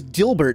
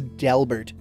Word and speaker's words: Delbert: Oh, I thought his name was Dilbert. I'm going to say his name's Dilbert? No, it's Delbert.